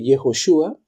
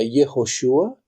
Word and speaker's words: Yehoshua: todos que es yeshua Ahora más adelante dice yehoshua que es la forma como se pronunciaba en la Biblia antes de el retorno de Babilonia cuando fueron deportados a Babilonia se decía yehoshua y al volver se decía yeshua de hecho lo puedes